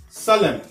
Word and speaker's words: solemn: La lettre N dans ces mots-là ne se prononce pas. On reprend column, Adam, damn, condemn, him, solemn.